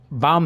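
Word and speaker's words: balm: ये L silent है, तो यहाँ पे बाम ही पढ़ना है इसे दोस्तों, ये बालम मत पढ़िए।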